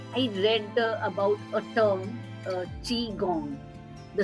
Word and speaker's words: qigong: So when I was just going through your profile, I read about a term, qigong. The spelling is a little different, but thank you for helping me with the pronunciation.